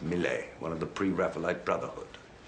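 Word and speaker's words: Millais: picture the Woodman's Daughter by mle leis is pronounced mle one of the preite Brotherhood so unlike some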